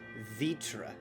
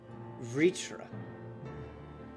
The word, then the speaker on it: Vritra: Never in a million years, if you just gave that name to me on text, would I pronounce it Vitra. Vritra. Where? There's no I. Where's the I?